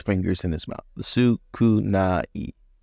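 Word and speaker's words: 少ない: Sukunai. Sukunai. I think of Sukuna from Jujutsu Kaisen.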